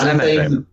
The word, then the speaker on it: Anathame: Yeah, it's Anathame. Anathame is the Athame is the dagger. The Anathame was the blade.